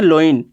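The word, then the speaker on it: loins: ये लायंस नहीं है, जरा ध्यान देना स्पेलिंग पे। ये वाला लायंस नहीं है, ये है लोइन।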